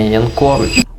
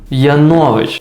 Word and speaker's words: Янович: має хто такий Женя Янкович а Янович Я навіть неправильно вимовив його фамілія царямба Ну я